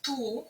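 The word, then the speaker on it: tous: приклад тульліва вся книжка далі у множині звучить ту як в однині ту ту але пишеться с на кінці туліліва всі книжки в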